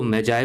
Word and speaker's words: Magi: इसको आप मैगी भी पढ़ सकते हैं, ये प्रोनाउंसिएशन का डिफरेंस है, अलग अलग तरह से लोग प्रोनाउंस करते हैं। कभी कोई इसको मैजाय बोलेगा, कोई मैगी बोलेगा, तो ये आपके ऊपर है, ठीक है। यहाँ पर हम इसको मैजाय बोल रहे हैं।